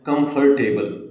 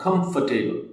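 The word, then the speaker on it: comfortable: pronounced words कुछ ऐसे जैसे हम बोलते हैं कंफर्टेबल this is wrong कंफर्टेबल कंफर्टेबल ठीक है इसमें आर नहीं बोलेंगे वेजिटेबल नहीं होता वेजिटेबल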